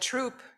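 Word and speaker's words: Throop: while she was away troop church and the h is silent like it is in thomas um it was my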